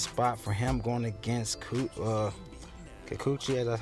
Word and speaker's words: Kikuchi: Love this spot for him, going against Kikuchi, that's how you pronounce it.